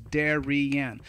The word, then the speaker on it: Darian: words so for example my name is darian right that's one word right but it's three syllables darien so it's gonna be